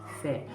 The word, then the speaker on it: fé: A palavra fé é aberto, fé. Todas as vezes que você ler, você vai observar, tem um acento agudo, ok?